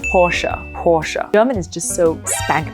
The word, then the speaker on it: Porsche: please remind everybody that this car name has 2 syllables. I said, okay, Porsche. Of course, a lot of people in the English-speaking world just call it Porsche, but if you go strictly by the German name, it's Porsche.